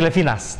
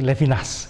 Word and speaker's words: Levinas: kamus kamus gitu seperti levinas tidak jadi Levina tapi levinas gitu kalau Yahudi Biasanya karena